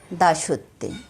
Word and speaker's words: দাসত্বে: এই শব্দগুলোর মাঝখানের অক্ষর ওকার সহযোগে উচ্চারিত হবে। যেমন এখানে আছে রাজত্বে, হবে রাজত্বে। দাসত্বে গানের সুরে উচ্চারণ হবে দাসত্বে।